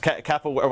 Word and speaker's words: capoeira: kimberly yeah you know it's a difficult word pronounced kappa where i guess for some of us uh but